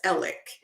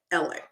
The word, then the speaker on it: Alex: very interesting that elik so down in the South they pronounce Alex as Alec like e-l-i-c-k elec and they pronounce Murdoch Murdock so elik elix phone